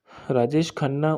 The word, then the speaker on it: राजेश खन्ना: थे राजेश खाना के बारे में राजेश खाना राजेश खन्ना उच्चारण जिन्हे जतिन खन्ना का के नाम से जतिन